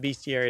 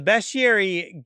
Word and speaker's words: bestiary: crashed the the bestiary even though people call it Beary it's spelled be EST i r y um the the bestiary gets populated when you